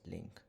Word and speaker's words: LINQ: stands for language integrated query and it is pronounced as link so as we know that nowadays the use